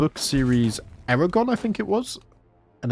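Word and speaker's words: Aragorn: in my head anyway instead of calling him Aragon my whole childhood I I read his name as Aon which is funny to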